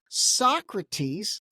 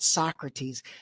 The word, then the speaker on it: Sockrates: And the company, here's the funny part, it's spelled Sockrates. So the big question is, I initially thought Socrates, and then I showed it to someone else and they're like, no, it's called Socrates. I was like, dude, I think it's called Socrates.